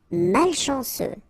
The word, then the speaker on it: malchanceux: Malchanceux. Final X not pronounced. C-E-U, ce. Malchanceux. Malchanceux. Peu utile.